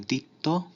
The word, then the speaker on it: দ্বিত্ব: দ্বিত্ব উচ্চারণ হয়, যেমন দ্বিত্ব। এখানে প্রথমে বফলা শুরুতে, এ কারণে এর উচ্চারণ নেই। আবার পরের বফলা শব্দের শেষে, এ কারণে এই ত বর্ণের দ্বিত্ব উচ্চারণ হচ্ছে।